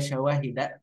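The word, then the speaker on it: شَوَاهِدَ: Nah, kenapa ini bacanya syawahida kemudian ma'khudatin? Gini, kalau syawahid itu bentuk namanya sigoh muntahal jumu ya, sigoh muntahal jumu, min syawahida, maka masuk min ya tetap ya, dia tidak bisa dijarkan dengan kasrah gitu.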